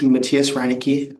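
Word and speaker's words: Matthias Reinicke: my name yes my name is Matias Raniki mat t h i a s r e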